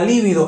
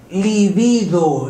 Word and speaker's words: libido: atracción ese deseo sexual la libido es incorrecto es libido la libido sexual libido